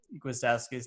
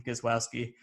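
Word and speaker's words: Gwiazdowski: the matches and uh he couldn't pronounce gwistowski's name he was calling him guswowski which is awesome distracting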